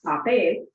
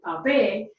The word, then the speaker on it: papel: Following rule number 2, we know that the stress must naturally fall on the last syllable of the word, because the word papel ends in a consonant other than N or S.